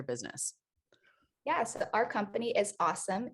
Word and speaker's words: AUesome: yes our company is awesome a-u-e-s but we just pronounce it awesome so we are a